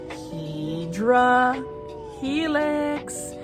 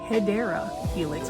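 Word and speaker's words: Hedera helix: This one is a Hedra Helix. So, um, for those that don't know, that is not the correct way to say hideera helix, which is the English ivy.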